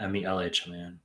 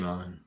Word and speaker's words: Mehlman: You spelled my name wrong. It's Mehlman, not Mehlman. Guys, give the video a like if you're coming in here. Ali H just saying hi, Dr. Mehlman.